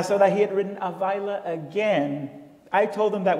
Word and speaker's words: Ávila: You must mean Avila. Yes, that's what I meant. And I thought, how nice of her to teach me the proper pronunciation of my name. It baffled me, though, because my publisher has called me Ávila for 7 years.